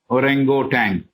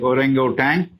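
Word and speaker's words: orangutan: u t a NG G so how you pronounce is your take orango Tang this is the name of the ape hbb says the African Apes like orango tank which are intelligent little less than Savage man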